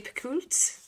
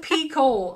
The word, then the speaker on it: Picoult: So for December, we've gone with Mad Honey by Jodi Picoult. I think I've been saying her name wrong forever. It's Pico. I've learned.